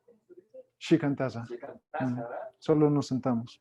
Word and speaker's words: Shikantaza: ¿Chinataza? ¿Cómo se dice? Shikantaza.